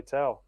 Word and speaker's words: Tao: So I just explained it to them, just like, if you just say "ow" and you just put a T in front of it, 'cause that's how it's spelled. Say "Tao." Pretty So, much.